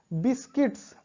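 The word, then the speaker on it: biscuits: उसके बाद बिस्किट्स, अब यहाँ पे CITS, तो यू यहाँ पर भी साइलेंट है, बिस्किट्स।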